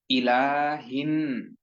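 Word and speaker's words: إله: প্রথমে যে শব্দটি রয়েছে শব্দটি হচ্ছে ইলাহিন। ই হামজার উচ্চারণটি শক্ত করে জেরের উচ্চারণের রস্বীকারের মতো এবং লাম খাড়া যে বললা ইলা এর পরে হিন ইলাহিন নাস ইলাহিন নাস ইলাহিন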